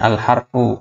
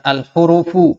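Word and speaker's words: الحرف: setorannya Oroh tanah ahruf jadi ini bacanya adalah harfun Oh ya al-harfu Hai bukan Al huruf u enggak ada kerupuk ya yang ada al-harfu atau huruf pun panjang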